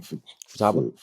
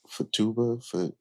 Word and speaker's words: Futaba: Futaba, Fatuba Futaba.